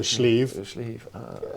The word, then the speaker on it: Sliabh: So B and a H together becomes a V. So Sliabh, and that's the way.